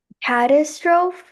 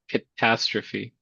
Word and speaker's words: catastrophe: Catistro. Okay. It's actually catastrophe.